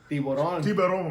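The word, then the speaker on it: tiburón: Tiburon.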